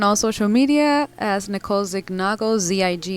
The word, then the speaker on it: Zignago: social media as Nicole Zago Zig n a o it's pronounced Zago like lasagna um you can find